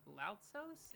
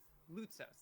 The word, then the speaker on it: Lautsos: Is it Lautsos? Is that how you pronounce that final name? Is it Orpheus Lautsos? Lutsos. Thank you.